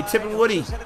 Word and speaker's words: Tipungwuti: say his last name i would not have pronounced it that way tipping woody i thought woody was like a i told